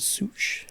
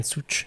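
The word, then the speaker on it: Szűcs: And it's got like two little things above the U because it makes the U sound like two O's.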